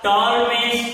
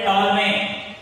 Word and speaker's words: Ptolemaic: It is called the Ptolemaic. T is silent.